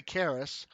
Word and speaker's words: Karis: So even though my name is spelled Karis, I say Karis, and the reason for that is I was basing my name off of Icarus and Daedalus.